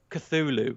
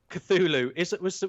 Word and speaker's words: Cthulhu: How'd you pronounce that? Call of Cthulhu. Cthulhu.